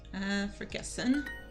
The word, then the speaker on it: vergessen: Vergessen is forget, which is very similar, forget, vergessen, because the V's in German are pronounced like F's.